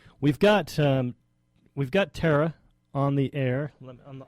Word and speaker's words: Thara: for having us on now am I pronouncing your name right Tara yes Tara great okay um wanted